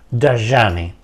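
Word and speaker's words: Dhyani: el the jny thean se escribe d h y a n i y se pronuncia en snit daani el daani elimina el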